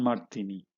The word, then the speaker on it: ಮಾಡ್ತೀನಿ: They'll say ನಾನ್ ಮಾಡ್ತೀನಿ. So you could imagine when you just cut things off, you get the spoken form.